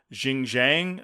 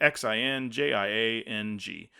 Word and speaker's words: Xinjiang: filming took place in the autonomous region of Xinjiang, or I think that's how you say it, Xinjiang, where human rights abuse are taking place.